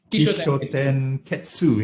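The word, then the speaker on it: Kishōtenketsu: Tell me more about the how do you pronounce it? Kishoten Ketsu.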